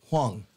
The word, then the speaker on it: Hwang: You don't pronounce the H in your name, right? Hwang. Hwang. Okay, you do pronounce it. I was right. Well, you said it both ways. You weren't sure, so you said you never said it around him. Hwang. T.H. Wang. No, Wang's Hwang.